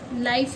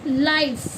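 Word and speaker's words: life: अब देखिए जैसे हमने लिया एल आई एफ ई। तो क्या पढ़ा है इसे? लाइफ ए नहीं पढ़ेंगे ना? लाइफ। ई साइलेंट है।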